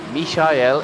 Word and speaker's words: Michael: Mishael is how they say it in German.